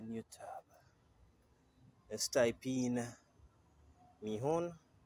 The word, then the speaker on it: Mihon: let's go into new tab let's type in meon right that's how you spell it m i h o n then you